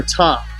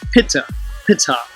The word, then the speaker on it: Ptah: ancient hieroglyphic depictions of the deity called Ptah, or Ta, if you use the silent P, Pitta, which was phonetically pronounced Pitta, and I'll portray how